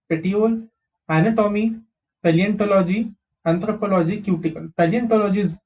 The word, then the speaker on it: paleontology: PA is pe, L is le, ON is on, TO is to, and law G. Paleontology.